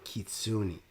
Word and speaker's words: Kitsune: I got lectured in a comment under a baby metal song that I apparently wasn't pronouncing Kitsune right. You know, that I need to say it and to be respectful.